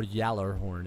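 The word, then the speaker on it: Gjallarhorn: It was supposed to be quote unquote next Galah Horn or Yaller Horn is the way it's actually pronounced, but I'm calling it the Gallah Horn.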